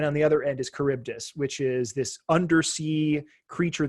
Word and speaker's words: Charybdis: Charybdis, depending on how you pronounce it. So if you ever... It is Charybdis.